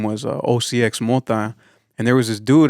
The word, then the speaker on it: OCXMOTA: A lot of people pronounce it OCMOTA or OCXMOTA. I tell people there's really no right or wrong way. It's just how you feel that day. Yeah. You can say OCMOTA or OCXMOTA. Yeah, usually when they put the X is silent.